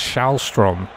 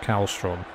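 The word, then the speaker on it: Källström: got told it was shrom or something that you have to call him it's not cstom don't pronounce the k apparently what a legend he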